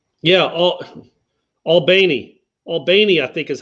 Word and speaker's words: Albany: When I worked in Thomasville, half their teams would play in Albany or Albany. I can't do it. I still can't do it. It's Albany, man.